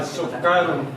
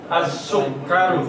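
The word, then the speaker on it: السكر: As-sukkaru. Salah. As-sukkaru. Bagus.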